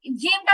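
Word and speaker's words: ج: জিম তো আমি বলছি উচ্চারণ সহজে বোঝার জন্য আমি বলছি যে বাংলাতে বর্গীয় জয়ের মতো, কিন্তু পুরোপুরি বর্গীয় জ না। এই উচ্চারণটার মধ্যে আরেকটু আপডেটের বিষয় আছে।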